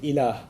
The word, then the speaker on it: ilah: La ilaha illallah, in which there's the term ilah.